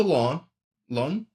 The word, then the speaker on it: Lens: Because he moved to Len. It's spelled Lens. I'm sorry for my French pronunciation.